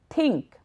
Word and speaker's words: think: Say the word think, think, think, not think, think, think. Repeat it a few times. Make sure you push your tongue between your teeth.